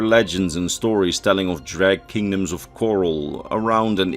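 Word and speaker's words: Dreugh: at this time, as the Dreg as the game pronounce it, or Droog as you write it, according to the Daggerfall user guide, were rumored to be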